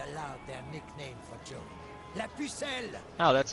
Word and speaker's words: La Pucelle: They fired artillery into the night sky and shouted aloud their nickname for Joan, La Pucelle!